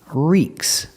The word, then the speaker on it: reeks: Pronunciation, reeks. I use the long E sound like green beans.